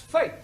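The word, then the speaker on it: fete: For example, F-E-T-E is also pronounced fate.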